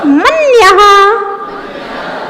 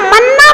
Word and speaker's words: मन्यः: संस्थित मिंदु बिंब, मिंदु बिंब मन्यः। अब मन्या नहीं पढ़ना ना, मन्ना पढ़ना। बहुत सारे लोग मन्ना पढ़ लें, कोई मन्या पढ़ेगा, मन्या नहीं पढ़ना है। मन्यः कितनी सुंदर भाषा लगती है, सुरीली भाषा है।